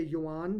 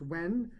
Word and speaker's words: yuan: digital when it's pronounced when I just found out that I used to say yuan but it's pronounced when according to Rick Sanchez says, "China is reshaping global trade and finance.